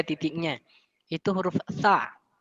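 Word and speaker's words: ث: Itu huruf tha. Cara pengucapannya itu tipis. Ujung lidah itu diletakkan di ujung gigi atau di antara gigi atas dan gigi bawah. Tha.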